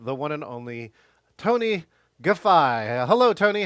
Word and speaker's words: Guffei: Guffei.